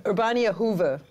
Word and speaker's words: Urbaniahoeve: gonna ask her about that how do you pronounce this company's name urbania Hoover that's not too bad urbania Hoover what's the